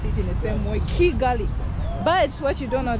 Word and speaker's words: Kigali: complain about me calling chigali but I'm supposed to pronounce it in the same way Kigali but what you don't know that in Uganda we pronounce k as Chi so we have different pronunciation but as long as